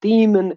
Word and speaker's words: Damon: And the thing is, with our language, like, ain't nobody gonna pronounce it Damon. He will be called Demon his whole life because that's the closest pronunciation that the Bosnian language is familiar with.